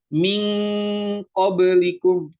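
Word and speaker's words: مِنْ قَبْلِكُمْ: Makanya bunyinya dia beda, bukan mil tapi pakai ng. Min qablikum. Kalau misalkan dieja pakai Indo ya, bahasa Indonesia itu kayak gini. Nah, gini gini banget gitu. Gini banget bacanya itu ming.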